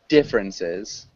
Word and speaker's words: differences: And differences. Differences. Yeah, so that's almost like a three-syllable word. So we'd say differences.